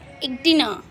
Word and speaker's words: echidna: तो ये कौन सा एनिमल है, तो दिस इज इक्डिना। इक्डिना है, आप स्पेलिंग लर्न करोगे ECHIDNA, ठीक है, इक्डिना।